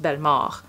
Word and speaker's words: Bellemare: So his last name is actually pronounced Bellemare.